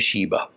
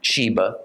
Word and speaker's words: Sheba: a sheen that is we should give the first letter of her name the sound of an s not of an Sh thus she was the